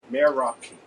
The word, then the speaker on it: meraki: Marikey. Does I say it right? I think so. I tell you how to spell it. M-E-R-A-K. Meraki.